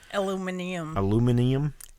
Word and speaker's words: aluminium: Has a crank on the aluminum. side. I started to say on the top. Aluminium. Aluminum. That's how they say it in Britain.